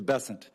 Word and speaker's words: Bessent: Cassidy um Mr bassant I'm always going to pronounce your name as if it was in south Louisiana and I'm gonna pronounce it with a French bon as opposed to bessent that's what those folks in South Carolina do um I'll try let